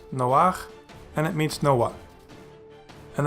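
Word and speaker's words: נֹחַ: And it is pronounced noach, and it means Noah.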